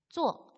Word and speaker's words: 做: 做 이 做 는요 여러 가지 의미의 하다라는 뜻의 단어입니다. 做 할 때 얘는요 오와 어의 중간 발음 어 정도로 발음을 하시면 되고요. 사성으로 발음을 하시면 됩니다.